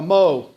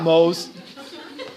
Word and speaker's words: mho: And it's pronounced a mho. Because you know what physicists are? We're funny people. Not mohs.